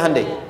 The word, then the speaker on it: Hyundai: bikin Honda sini hundai Hyundai kan dibacanya hundai kan sana Honda sini hundai